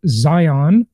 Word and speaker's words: Zeihan: world on geopolitical issues and that is Peter Zion that is the correct way to pronounce it by the way he is the